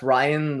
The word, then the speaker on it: Ryan: It's pronounced Ryan. Like it's not Ryan. I know that, but it's like Ryan, like Orion. I'm guessing. Yeah, Ryan like lion.